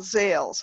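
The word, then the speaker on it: Ilz: And it's called Zales. And I'll spell that for you.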